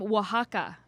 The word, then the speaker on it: Oaxaca: 100 single origin coffees no bs blends from oaxaca are you impressed that i knew how to pronounce that yeah impressive um the ad read